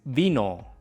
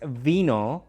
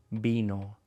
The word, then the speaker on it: vino: La palabra número tres es vino. Esta es una distinción muy sutil. No es vino con el sonido de la v en inglés. V, v, v, vino.